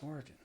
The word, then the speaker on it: Origen: Origin. I looked at the pronunciation. It's Origin. Origin.